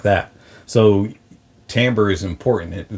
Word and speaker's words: timbre: that gets used wrong is timbre or timber i i pronounce it timbre and that's the recognizable